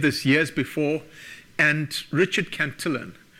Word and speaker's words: Cantillon: Locke had said this years before, and Richard Cantillon, who people often pronounce Cantillon because he was working in France, he was actually Irish, had all come up with this idea beforehand.